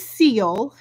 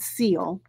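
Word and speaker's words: Sille: um kind of a theme here this is seal it's uh spelled s-i-l-l-e but it's pronounced so fortunately she did a pronunciation with the pattern it is called seal this is by petite knit and we will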